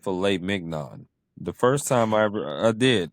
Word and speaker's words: filet mignon: There should be no G in there if we're Right.